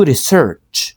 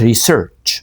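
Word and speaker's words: research: انا عندي دروس دو ريسيرتش خد بالك ان هي بتتنطق في الاخر بالتي اتش فبيقوللك ريسيرش والله مش ريسيرش ما فيش حاجه اسمها ريسيرش ريسيرش ده انت فلاح ريسيرش قال لي بعد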